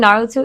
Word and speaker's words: Naruto: Am I the for saying Naruto isn't the leader of the Illuminati? I'm going to say yes, cuz I don't know what any of that meant. You don't know who Naruto?